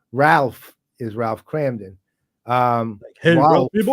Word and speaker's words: Rolf: It's a German pronunciation. It's like Ralph. How you would say like Ralph Cramden? Kind of, not exactly.